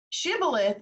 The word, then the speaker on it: shibboleth: that video for it for those details but shibboleth is the actual pronunciation but we call it shabolith and uh